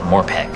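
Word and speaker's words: MMORPG: MMO RPG. Impossible to pronounce, but I call it Morpegg.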